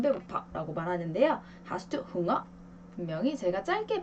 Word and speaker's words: Hunger: 그럼 이 우 다음에 자음이요. 몇 개가 있나요? 이렇게 2개가 있어요. 2개가 있기 때문에 요 흥어는 뒤에 n개라는 2개의 자음이 있기 때문에 짧게 발음을 해줘요.